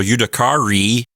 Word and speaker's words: judicari: So judicari, with a long I there at the end, says to be judged.